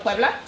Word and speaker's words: Puebla: at the Battle Of Puebla?